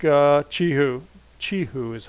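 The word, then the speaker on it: Qihoo: got to do with a stock like uh chi who Chi who is how you pronounce it instead of guahu chi who okay and U the other thing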